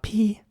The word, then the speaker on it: pea: Next up, pea. Pea is spelled P-E-A. And here it is very important to really not even pronounce the A at the end. Just say P, so P-E, pea. Pea soup.